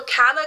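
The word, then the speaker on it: Calla: lot of words so kala kind of looks like Gaia the two l sound like a j it means Street in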